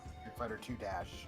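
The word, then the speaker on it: Street Fighter II': I believe in Japan they pronounce that as dash. That's a Street Fighter 2 dash.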